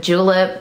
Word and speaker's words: Julep: It's one of those new indie brands, kind of like out here in the beauty world, like if you've heard of Julep, which is spelled J-U-L-E-P, like mint julep.